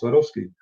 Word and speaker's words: Swarovski: You pronounce that so nice. Well, that's what it's called, Swarovski.